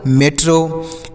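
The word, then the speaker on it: metro: हीरो हो गया एम ई टी आर ओ मेट्रो एम ई टी आर ओ मेट्रो डी ई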